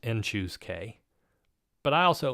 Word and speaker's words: n choose k: Often written in this form, and it's pronounced n choose k, but I also like just writing it as cn k.